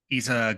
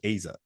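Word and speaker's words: Eiza: Then I did want to quickly touch on, is it Isa Gonzalez? So I heard her pronounce it as Aza.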